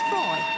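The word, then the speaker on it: Froy: By the way, my name is Freud. Did you say Freud? No, Freud, not Freud. Freud. I'm sorry, I can't hear you. Freud rhymes with joy.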